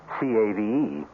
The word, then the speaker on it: cave: with the latin word spelled the same way c-a-v-e but pronounced cave it means beware our cast included